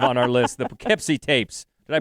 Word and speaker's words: Poughkeepsie: It's 2007, number 5 on our list, the Poughkeepsie tapes. Did I pronounce that right?